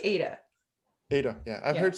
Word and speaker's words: Ada: say Ada or Ada? I say Ada.